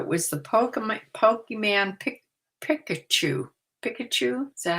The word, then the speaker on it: Pikachu: Pikachu, is that how you pronounce it?